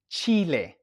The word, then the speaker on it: chile: And we take a look at the word chile. Chile. Chili pepper. And now remember we said that the H is silent when it's only the H.